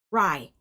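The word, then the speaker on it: Grai: All right, Gray, and it's spelled really weird, y'all. G-R-A-I. Rye. It's rye. It's actually rye. G-R-A-I. The G is silent.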